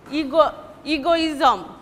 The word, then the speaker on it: egoism: Anecdote or ism, suppose egoism, ego, the first ego will be stressed, egoism, and ism will be unstressed.